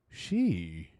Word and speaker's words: Xi: Actually, you say his name. She wait. She Yeah, you start low and then you got See, we